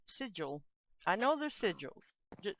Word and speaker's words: sigil: it looks like sigle I know it's sigil don't think I'm stupid and don't remark and say it's not single it's sigil I do know the